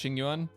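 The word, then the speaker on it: Jing Yuan: Next up is going to be, I believe his name's pronounced Jingyuan.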